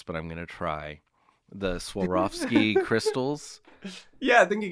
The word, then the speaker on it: Swarovski: about these before and it's so hard to pronounce but i'm gonna try the swarovski crystals yeah i think you got it swarovski yeah okay um they had a display case